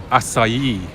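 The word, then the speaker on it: açaí: I believe it's pronounced acai.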